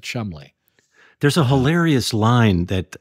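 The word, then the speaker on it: Cholmondeley: chaland is the word but they pronounce it Chumley what is it like it's a name it's yeah some sort of name and it's like but they pronounce it Chumley there's a hilarious line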